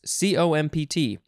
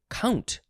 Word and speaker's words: compt: C-O-M-P-T. It definitely is. You could say compt, or you could say count.